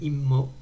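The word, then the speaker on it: וְאִמּוֹ: Alors attention, وإمو, faut essayer de prononcer le dagesh de immo, imma.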